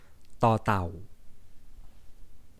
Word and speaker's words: ต เต่า: like in this 21st letter of the alphabet, tò tàu. Let's try to pronounce tò tàu together.